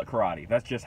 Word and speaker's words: karate: this video with a disclaimer I know it's pronounced karate I am aware of this fact I am